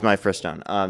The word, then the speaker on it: mifepristone: I think it's mifepristone. Yeah, my first. It's mifepristone.